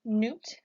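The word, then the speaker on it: Nut: protection next we have Newt you can pronounce this name by saying new top Newt Newt is the sky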